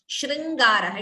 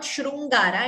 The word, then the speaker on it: शृङ्गारः: Note the pronunciation of this word. It is shringaraha. It is not shrungara.